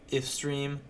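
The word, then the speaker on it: ifstream: main function we have in if stream that's how you say it it stands for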